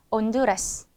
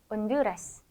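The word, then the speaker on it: Honduras: 다음은 아체는 아체라 하는데요 아체는 무음이에요 소리가 없어요 그래서 엘라도 엘라도 온두라스 온두라스 우리 온두라스는 나라 이름이죠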